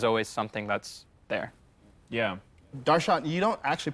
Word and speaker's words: Darshan: But technically the correct way to pronounce my name is actually Darshan. There's like a, yeah, like that's just the correct way to pronounce it.